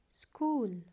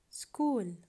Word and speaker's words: school: In English, CH can be pronounced as ka, ka, ka, like school, school.